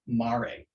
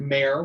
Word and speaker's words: Mare: a new yarn called mari it looks like mare when you're looking at the name because it's spelled m-a-r-e and they forgot to put the little accent so you're not knitting